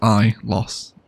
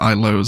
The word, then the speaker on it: Ilos: lose um i lost imagine if apple made los angeles is the way i remember it it was i lost yeah i lost but i'd probably pronounce it i lose as well at some point so just ignore me